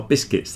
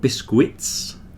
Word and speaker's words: biscuits: biscuits biscuits biscuits are biscuits they're not biscuits there's no u in there don't pronounce that U biscuits vegetables come on